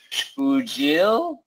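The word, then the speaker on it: Xpujil: And, oh, this one's a tough one, Ted, because I've learned that in Mayan, X is pronounced as a SH sound, so Shpujil, I'm going to guess.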